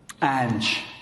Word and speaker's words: Ange: Eagle MMA, the guy glazing Ainge hard. What? Ange, ladies and gentlemen.